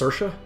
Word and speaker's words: Saoirse: Yeah, it has a Gaelic name. It's pronounced Saoirse, means freedom, as you can see in the description.